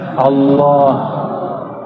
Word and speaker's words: Allah: Coba baca Allah. Saya orang Sunda bacanya Allah. Ya, Al itu bukan dia lam ketemu lam. Allah harus disambung, bukan mati. Allah.